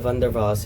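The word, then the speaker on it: van der Waals: next we have the Vander V equation for real gases it's pronounced V the W is pronounced V so that's th V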